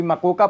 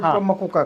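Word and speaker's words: MCOCA: Of organised crime act, जिसको कोई मोका pronounce करता है, कोई मकोका प्रोनाउंस करता है, मकोका कहा जाता है।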